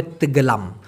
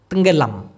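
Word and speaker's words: tenggelam: করেন টুপ করে পানি ডুবে গেল সেক্ষেত্রে হবে তেগেলাম তেঙ্গেলাম তেগেলাম তো নাঙ্গে তেঙ্গেলাম বললে ভালো হয় তেঙ্গেলাম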